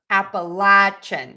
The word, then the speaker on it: Appalachian: So according to the AI, it's Appalachian. Or Appalachian. So I was correct. You can pronounce that either way.